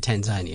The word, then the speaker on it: Tanzania: Tasmania so it's Tasmania so why isn't it Tanzanian what's growing on me since we've been doing